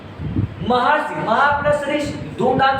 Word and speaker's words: महर्षि: अर्ध का मतलब जैसे मैंने लिखा महर्षि, ये देखिए ये ऐसे रहेगा ऊपर, और उच्चारण करोगे तो अर आएगा। बोलो महर्षि, अर है ना।